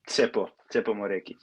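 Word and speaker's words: Tshepo Moreki: Maybe Tsepo Moreki.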